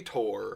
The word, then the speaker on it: Tour: But what if you look at it and they say Tor, Yeah. and then But it's then- actually spelled Tour?